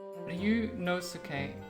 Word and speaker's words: Ryunosuke: Ryunosuke is how it's pronounced.